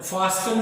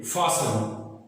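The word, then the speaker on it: fasten: फासन, ये क्या है? फासन, फास्टन नहीं है ये, फासन।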